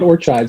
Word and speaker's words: Ortscheid: And our guest is the one and the only Ortscheid. And I actually have only, is that the right pronunciation? I think you actually got it right there, Ortscheid.